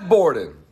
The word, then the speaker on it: Borden: Borden. Rhymes with Gordon.